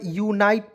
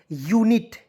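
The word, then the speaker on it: unit: देखेंगे यू एनआईटी तो बहुत लोग जो है यूनाइट पढ़ लेता है यूनाइट बिल्कुल गलत है यूनाइट नहीं पढ़ना है यू एन आईटी ई पढ़ेंगे दोस्तों यू का उच्चारण यू के रूप में हो जाएगा एन आईटी ई इसका हो जाएगा नीट के रूप में एन आईटी ई क्या पढ़ेंगे दोस्तों यू एन आई टी ई यूनिट यूनिक क्या हो दोस्तों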